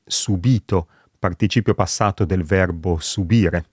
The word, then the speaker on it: subìto: Oppure subito, nel senso di immediatamente, e subito, participio passato del verbo subire.